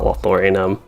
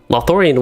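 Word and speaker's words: Lothlórien: myself in something like lothorion or not lothorano lothorian would be nice but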